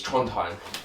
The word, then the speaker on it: Trondheim: down to Trondheim, and I always worry that I'm saying it wrong. I used to just call it Troddy when we were out there, Troddy for short. Yeah, Trondheim, it's Trondheim.